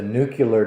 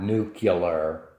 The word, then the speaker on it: nuclear: Bush was guilty of this, and a lot of people are, where they say nuclear. It's a nuclear plant. It's a nuclear device. Well, as most everybody knows, it's not nuclear. It's nuclear.